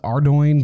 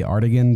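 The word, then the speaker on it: Ardougne: mil to teleport to artigan I know it's pronounced ardoin but I say artigan because it just sounds way better than ardoing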